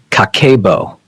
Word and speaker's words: Kakeibo: Pronounced pronounced Kakeibo, a word often translated as household financial ledger.